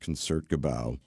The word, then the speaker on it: Concertgebouw: It's pronounced Concertgebouw.